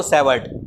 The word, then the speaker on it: Savart: ठीक है, और उसके बाद बायो सेवर्ट, ये 2 साइंटिस्ट थे। ठीक है, फ्रांस के, इसका टी प्रोनाउंस नहीं होता, और ये सेवर्ट 2 हैं।